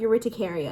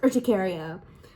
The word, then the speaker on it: urticaria: It's not urticaria, it's urticaria.